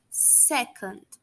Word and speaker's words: second: E as expressões que a gente utiliza em horas, minutos e segundos: hour, minute e second. A letra D no finalzinho de second é pronunciada de forma bastante suave, tá?